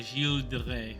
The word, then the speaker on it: Gilles de Rais: So, let's talk about Gilles de Rais. That's how his name's supposed to be now pronounced. Gilles.